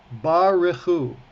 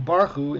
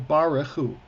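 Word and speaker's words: בָּרְכוּ: they refer to this so there's two problems with that first is that that that second syllable is totally absent they're saying that a three syllable word is a two-syllable word they're saying bahu instead of baraku three syllables and it is three syllables because what kind of vowel is that under the under the first letter long or short long it's a long vowel so it's ba okay not only that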